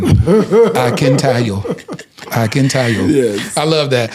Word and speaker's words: Akintayo: Akintayo. Yes. Absolutely. He said, he told me, he tried to teach me to say it like I'm singing. Akintayo.